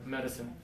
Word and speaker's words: medicine: careful about the pronunciation this is the more difficult one just remember teeth together medicine now some students say Nick